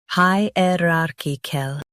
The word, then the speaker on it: hierarchical: HIERARCHICAL. Now read the syllables shown on the screen naturally. Hi, rar, ki, kel. HIERARCHICAL. Emphasize rar and soften kikul.